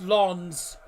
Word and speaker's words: Lens: That's Lons, not Lens. Lons. Because that's French. Lons.